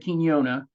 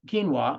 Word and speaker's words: quinoa: have in our our collagen called ruby red kenona um quinoa I'm sorry extract I mispronounce that almost every time the bottom line